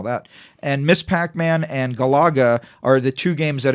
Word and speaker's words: Galaga: Because I learned from the guy who invented it how to pronounce It's it. Galaga.